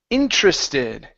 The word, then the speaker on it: interested: we have the word interested okay the stress is at the very beginning we're going to use